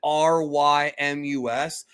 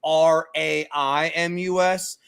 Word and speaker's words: Raimus: the subtitles spell it Rymus, but it's really supposed to be Raimus. I don't know why Crunchyroll picked that spelling, but it's Raimus because his symbol is Ra. That's what the kanji is.